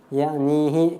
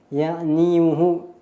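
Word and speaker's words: يعنيه: dhammahnya tidak dimunculkan, yakni tidak dibaca ya'niyu, tetapi yakni kemudian hi, ya'nihi. Kenapa tidak dibaca? Muni'a min zuhuriha athiqalu, tidak ditampakkan karena berat untuk diucapkan. Ya'niyuhu itu sulit ya untuk berharokat dhammah, maka dibaca sukun menjadi ya'nihi.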